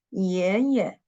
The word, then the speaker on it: 爷爷: And second one, 爷爷, grandfather, grandpa. 爷爷. The second syllable is the neutral tone.